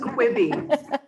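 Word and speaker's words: Quibi: It's pronounced Quibby.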